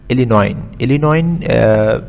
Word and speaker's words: Illinois: Some land in Western Illinois. S is silent over here. It's the name of the place.